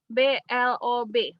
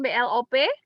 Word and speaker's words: blob: Oke, silahkan diklik elemen, kemudian kita ketik di sini BLOB. Bacanya blob, bukan BLOP. Kalau blob BLOP, Bapak Ibu nggak akan ketemu nanti.